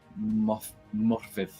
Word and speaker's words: Morfydd: Morfydd, I think is the proper way of pronouncing it.